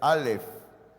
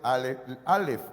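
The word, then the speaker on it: אלף: digámoslo así Ah no no se lee no se pronuncia en el idioma hebreo solamente es una letra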